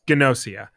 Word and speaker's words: Gnosia: Next is Gnosia. Is that how you pronounce that? Yeah, there's a G in, there's a hard G. Yeah. That's how the narrator was saying it. Yes, Gnosia.